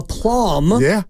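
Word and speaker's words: plumb: it with such a plum with a B the B is silent makes it so that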